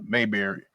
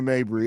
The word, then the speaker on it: Mabry: last year we kind of took a gamble on Marina Mayberry. Yeah. It's So the I draft. always say her name wrong. You do, Marina Mabry.